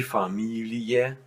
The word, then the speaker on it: Familie: all of them, but many of them are pronounced simply separated. And those words are, for example, die Familie, die Lilie, die Studie, die Bestie. So you don't make a long E, you pronounce it separated.